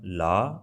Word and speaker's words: ਲਾ: So these two words are la and la. Did you find the difference or not? La, la. So basically, one is just la sound and another is a little bit h sound at the end.